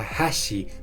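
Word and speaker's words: 橋: Por ejemplo, puente en japonés se pronuncia hashi, pero palillo chino se pronuncia hashi.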